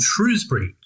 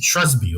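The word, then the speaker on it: Shrewsbury: you pronounce this place he said well if you're local you pronounce it shasby or something along those lines so it appears to have three different pronunciations and even the people who live there don't say the same thing so you know we're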